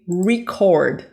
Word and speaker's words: record: money earned earned and here because we are talking about the verb and not the noun we're going to say record record but we we if